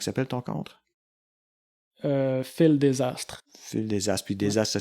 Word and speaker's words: Dsastr: sur comment qui s'appelle ton contre euh fil desastre fil desastre puis desastre ça s'écrit d S a S t a d